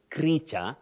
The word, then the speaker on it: creature: but Betty this word is creature just like feature not future now the next one